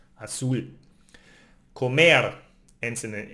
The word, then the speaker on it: azul: But we have also all other consonants, and here, all other consonants except N and S, then we need to emphasize the last syllable, like azul, blue, azul ends in an L, it's not N or S, so we need to emphasize the last one, azul.